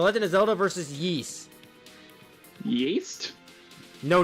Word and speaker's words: Ys: Yeast? No, not yeast. Yeast. Y-S. Yeast? It's pronounced yeast. Yeast! Yes, I can speak Kobold. Yeast! Yip, yip. It's yes without the E.